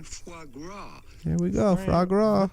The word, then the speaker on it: foie gras: at how to pronounce with the typical French pronunciation foie gras here we go frog what the [ __